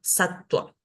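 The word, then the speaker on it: sattva: a salir decir sarva pero si yo veo satva no tengo que decir satva es importante recordar que después de una consonante la tengo que pronunciar como una u satua y luego está la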